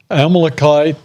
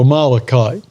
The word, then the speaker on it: Amalekite: There's 2 different ways you can pronounce this, Amalekite or Amalekite. And only God knows the correct way.